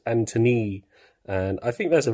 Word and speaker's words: Antonee: I actually think his his real name's much cooler um is spelled with an extra e on the end uh his name's Anthony and I think that's